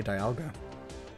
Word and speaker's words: Dialga: How do you say dialga? Like that. Dialga. Because its horns or whatever are clock dials. How are they supposed to be pronounced? Dials. But it's also diamond.